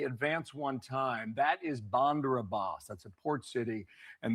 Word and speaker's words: Bandar Abbas: So, now that we know it's pronounced Bandar Abbas.